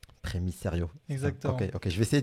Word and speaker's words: Primicerio: Ok, attends, comment ça se prononce? Primiserio. Primiserio.